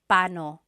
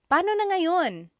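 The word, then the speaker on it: paano: And then just a pronunciation tip it's technically when there are two vocab or when there are two vowels together you say them separately. But when speaking quickly, Filipinos just say pano pano.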